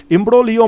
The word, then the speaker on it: imbroglio: তো সেটাই বলছে যে এই যে মানে এটা হচ্ছে আইনত জটিলতা, ইমব্রোলিও মানে হচ্ছে আইনত জটিলতা, আর জি এর উচ্চারণটা কিন্তু সাইলেন্ট থাকবে।